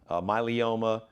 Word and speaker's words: myeloma: a condition called multiple myeloma i've heard people pronounce myeloma myeloma um you're correct multiple myeloma myeloma okay so